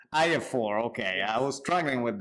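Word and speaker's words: IAFOR: the acronym exactly is how is pronounced exactly pronounced I4 okay I was struggling with that most yes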